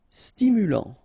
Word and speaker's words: stimulant: Stimulant. Final T not pronounced.